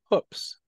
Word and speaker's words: Hoopes: My name is actually pronounced Hoops. All right. So here we go. We are here with Professor Hoops, not Hoops, as he points out. So let's not jump through any hoops today.